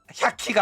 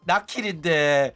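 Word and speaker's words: 百鬼: 그 호로라이브에서도 나키리 아야메 같은 경우에도 그 원래는 그 한자를 일반적으로 나킬이라고 안 읽어. 샤키라고 읽거든. 백기라고 읽어. 그래가지고 사람들 또 아야메 방송 안 보는 애들은 이거를 나킬이 아야메인 줄 몰라가지고 샤키상 막 이래가지고 오조가 샤키가 아니라 나킬인데 이거를 지적해야 되나 이러면서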